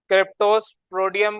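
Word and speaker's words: Cryptosporidium: क्रिप्टोस्पोडियम बोले, क्रिप्टोस्पोडियम, जो भी आप इसको बोलना चाहें। क्रिप्टो और फिर स्पोडियम, ये आपका पूरा इसकी प्रोनाउंसिएशन है। क्रिप्टो अलग बोलते हैं, मिला के ऐसे नहीं होता।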